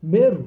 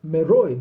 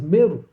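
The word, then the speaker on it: Meroë: big city that is called meru but it's spelled meroy but the word is meru so the main city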